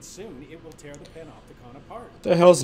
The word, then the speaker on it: Panopticon: Panopticon. That's how you pronounce it.